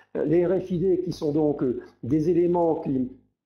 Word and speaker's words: RFID: Les RFID, donc prononcés à la française, hein, les RFID qui sont donc des éléments capables d'émettre des informations à des distances relativement importantes maintenant.